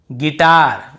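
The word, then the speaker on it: guitar: यहाँ पर भी देखिए गिटार, जी आई टी ए आर, तो गिटार बजाना वाला गिटार ही होता है।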